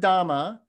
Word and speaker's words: Dhamma: the m, and then the last little one with the horns is the ma. So da ma. So that's the word Dhamma, which is pronounced in Pali.